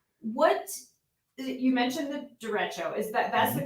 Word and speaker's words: derecho: what, you mentioned the derecho, that's Mm-hmm.